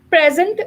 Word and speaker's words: present: as a verb here when i'm talking about as a verb then i will be stressing on the last syllable on the last four letters but when i'm using present as a noun or i'm talking about presentation okay then i will be stressing on the first part of the word okay present uh is